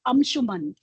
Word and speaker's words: Anshuman: So I specifically searched, and then it said that wherever, Veda base it was referred, the right way to pronounce is actually Anshuman.